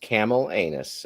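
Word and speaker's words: Camallanus: i found ring worms it's pronounced camel anus okay oh my gosh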